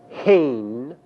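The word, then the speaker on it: הֵן: And there are also two third feminine plural forms that translate they, and in Hebrew these forms are pronounced hain and hena.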